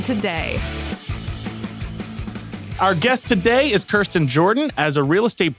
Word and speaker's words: Kirsten: So it's Kirsten? Yeah. That's how you pronounce it, not Kirsten? Okay. It is Kirsten. Yeah, Kirsten. It is Kirsten.